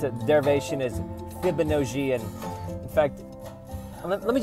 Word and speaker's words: Fibonojji: By the way, that's pronounced Fibonojji. It's a, okay, let's talk about, all right. I'm gonna make some jokes about San Fran, but it's very important you get my name right. It's Fibonojji.